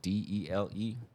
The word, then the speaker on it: Dele: yeah, just type in Dele Media, Dele pronounced like a deli sandwich, but Dele Media.